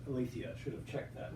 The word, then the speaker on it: Aletheia: her new book uh walking with alaphia uh am i pronouncing that right i say sorry walking with alethia i should have checked